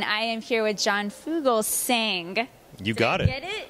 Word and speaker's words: Fugelsang: with cgtv and I am here with John Fugal sing you got it get it I was like